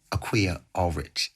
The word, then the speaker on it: Akua Allrich: The amazing Akua Allrich.